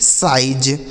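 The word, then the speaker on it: size: एस आई जेड ई साइज, एस आई जेड ई साइज। तो देख रहे हैं यहाँ पे आई का उच्चारण क्या हो गया, आई हो गया। ऐसा इसको नहीं पढ़ना कि सीज पढ़ देंगे, सीज पढ़ देंगे या सीजे पढ़ देंगे, गलत उच्चारण हो जाएगा।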